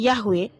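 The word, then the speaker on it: Yahweh: Memang secara linguistik Yahwe itu ya yod heave yang pelafalannya Yahwe berangkat dari kata semitik he y he yang dibaca hayah ya.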